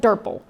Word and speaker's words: DRPL: too many syllables so we call it durple rhymes with purple all right so durple